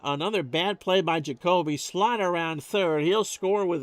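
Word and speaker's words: Slaught: A 2-2 in there at the knees, and that'll bring him slot. Don Slot. Don't pronounce it any other way.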